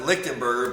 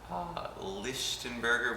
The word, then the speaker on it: Lichtenberger: And I pronounce it Lichtenberger, but your family would pronounce it Lichtenberger with the over the CH.